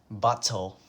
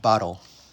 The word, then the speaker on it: bottle: bottle of water okay so the word bottle has two T's so you think we would say bottle a bottle but in American English we say bottle it sounds like bottle with a D bottle why I don't